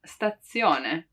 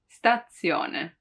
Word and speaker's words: stazione: a double one like in stazione stazione it really seems like there are two zed right statzione but the truth is spelling wise it's just one also because there are not